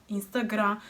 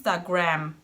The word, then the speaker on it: Instagram: is similar Brazilians say Instagrã So without pronouncing the final letter m So it sounds like And it feels like there is something missing cause in English it's Instagram, pronouncing the final m too This word is also quite similar.